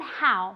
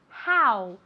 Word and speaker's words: how: Cuidado con how, ¿vale? Se escribe con una O, pero se pronuncia como si fuera una A y después una U. How, ¿vale?